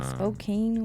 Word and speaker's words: Spokane: um in Spokane Washington uh Spokane Washington yeah you gotta say it like that all right Spokane there's no accent you